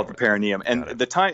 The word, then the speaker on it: perineum: Yeah, the perineum. It's called the perineum, or sometimes pronounced perineum.